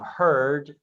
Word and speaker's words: heard: familiar traps beware of heard a dreadful word that looks like beard but sounds like bird and dead it's said